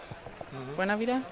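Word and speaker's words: Buenavida: them I think um Elena bonavida Buena Vida do I say it right okay yes I think her coming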